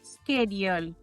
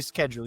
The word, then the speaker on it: schedule: Yes, it's typically schedule. You have it correct. In certain parts of the United States and also in Europe, you might hear a softer pronunciation. Schedule, for example, is another way to hear failure.